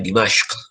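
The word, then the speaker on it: دمشق: Syam ni di Dimashq, di Syria sekarang ni, ataupun Damsyik dia sebut bahasa Melayu kita. Tapi sebut Arab dia Dimashq.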